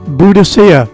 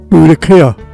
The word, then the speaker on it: Boudicca: Thetford was the home to the red-headed warrior Queen Boudicea, or correctly pronounced Boudicca, and is where she designed her battle plan to overthrow the Roman Empire, killing 70,000 in the process.